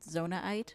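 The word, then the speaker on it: Zonaite: It's pronounced zonite.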